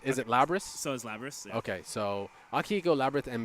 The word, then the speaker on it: Lapras: we got Akihiko we have how do you pronounce is it lebra's so is Lapras okay so Akiko labyrinth and Mitsuru Akiko being